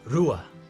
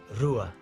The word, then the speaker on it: rua: one number two is rua number two is rua it's got like an r sound at the beginning so let's go through